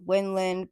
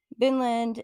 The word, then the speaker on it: Vinland: So Vinland, also called Winland, but pronounced from the Vikings as Vinland, is an area we now know of as North America, more specifically along the coast of Canada.